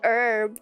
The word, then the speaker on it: herb: Oh, it's like herb then. It's silent H.